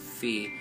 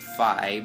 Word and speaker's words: Fi: It's not pronounced Fee. Pretty sure it's pronounced Phi, but Phi suggests that